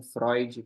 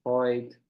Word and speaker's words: Freud: exemplo número nove né que parece sempre com Freud porque o som de oin oin então Freud ah lembra noir também